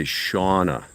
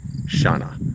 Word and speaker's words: Shana: They say Shauna. Yeah, I kind of figured that might be the way some people pronounced it, but it's Shana.